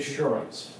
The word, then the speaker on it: Schoorens: My name is Schoorens. It's spelled S-C-H-O-O-R-E-N-S. Okay. Now, if you look at that and you have trouble pronouncing it, say the word insurance. Now drop the I-N.